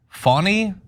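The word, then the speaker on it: Fani: in more ways than prosecutor engaged by fonnie pronounced fonny Willis I guess why is he clarifying that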